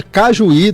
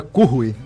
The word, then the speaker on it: Cujuí: A pronúncia em espanhol é Cujuí, Cujuí.